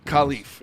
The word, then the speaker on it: Khalif: Khalif is how he wants it pronounced.